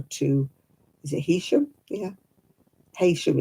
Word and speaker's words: Heysham: Heysham it's spelled, but they call it Heysham round here.